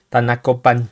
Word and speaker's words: Tanacopan: Vamos a comenzar con el caso de Tlacatet y Tanixtet, sacerdotes nativos de Tanacopan. Tanacopan, lleva acento en la, en 1536.